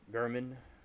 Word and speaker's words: Garmin: And it looks like German. His name literally looks like German. But his name is like German. That's how it's pronounced.